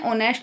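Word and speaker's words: honesty: तो ओ से यहाँ से स्टार्ट होगा, ओ से, एच इसमें साइलेंट रहेगा, ऑनेस्टी से होगा, ऑनेस्टी इज आ रेयर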